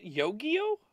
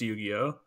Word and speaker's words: Yu-Gi-Oh: the gathering yo-yo pokemon is that how you sp pronounce it yo-yo no it's yu-gi-oh okay all right that's